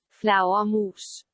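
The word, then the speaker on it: flagermus: were danish this is this is spelled completely different than what it sounds like it's spelled like f-l-a-g-e-r-m-u-s but this is how it's pronounced flower mousse you guys be flower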